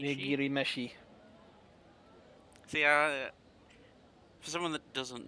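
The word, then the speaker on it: 握り飯: Nigiri mishi. Nigiri meshi. See, for someone that doesn't know Japanese, trying to pronounce things.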